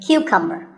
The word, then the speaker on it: cucumber: now this is a cucumber it's not a cucumber think of it like saying the letter q and then cumber like number so cucumber this vegetable